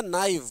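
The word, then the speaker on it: naive: नेव और यह था नाइव भोला भाला इसको नाइव पढ़ते हैं ए साइलेंट होता है अ नाइव मैन भोला भाला काउंटेबल नाउन है।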